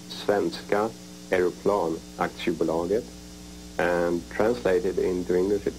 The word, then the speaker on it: Svenska Aeroplan Aktiebolaget: Saab, that is 4 letters, S-A-A-B, and it stands for, in Swedish it's pronounced Svenska Aeroplan Aktiebolaget, and translated into English it is Swedish airplane,